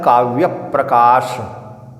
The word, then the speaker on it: काव्यप्रकाश: इसलिए इसका उच्चारण क्या है? काव्य प्रकाश। क्या शुद्ध उच्चारण है? काव्य प्रकाश।